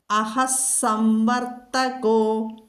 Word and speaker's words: അഹഃസംവർത്തകോ: അപ്പോൾ അഹഃസംവർത്തകോ, മനസ്സിലായല്ലോ, സ് അവിടെ വന്നു. അഹഃ സംവർത്തകഃ വിസർഗം കഴിഞ്ഞിട്ട് സാ വന്നതുകൊണ്ട് സ് വന്നു വിസർഗസ്ഥാനത്ത്, അത് ഉച്ചരിക്കണം. അഹഃസംവർത്തകോ, കോ എന്ന് പറയണം, ഗോ എന്ന് പറയരുത്, ഗാ മൃദുവാകരുത്.